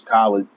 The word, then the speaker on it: Khalid: He was your name is Khalid because that's what I named you. If people tell you that it's pronounced wrong or that it's westernized, tell them like, yeah, it's westernized. That's what my dad is. It's what he intended.